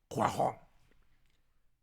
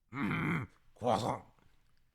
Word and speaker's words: croissant: Or in your French pronunciation. You're right. Croissant. Croissant. That's how the French say it. Croissant.